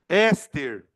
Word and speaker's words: éster: Ou, presta atenção no acento, caralho. Éster. A gente fala, eu não sei se éster tem acento, né? Mas a sílaba tônica tá aqui. Ester não tá aqui.